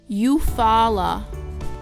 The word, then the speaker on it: Eufaula: This is how they are pronounced in the Muskogee language. Obalega, Suliagaga, Daladigi, Daskigi, Eufaula, Istiaboga.